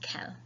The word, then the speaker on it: quel: any time you see the Q in French, it's more of a cut sound than we'd say in English, a qu sound, but it's not, it's just quel.